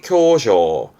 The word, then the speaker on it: 狭小: 좁다고 보시는 거예요 그래서 대표적으로 협소한 좁은 협소한 발음은 교쇼 쇼 협소한입니다 의미 의자 했습니다 협의 바르면 표기